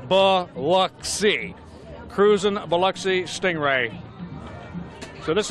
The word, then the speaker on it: Biloxi: some of them actually say the pronunciation ba luck see cruising Biloxi Stingray so